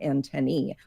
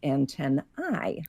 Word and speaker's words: antennae: sound like in me so this is why we now have entomologists in English saying antennee but why it also makes sense to someone who is not an entomologist to go with a pronunciation like antenna I it's the etymology of